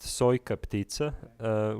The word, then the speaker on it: Sojka ptica: So the piece is pronounced Sojka ptica, which means, well, the full name of the